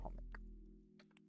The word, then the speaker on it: Chomik: far, I've been saying Chomik wrong. It's actually a Polish word. It's pronounced Chomik, not Chomik.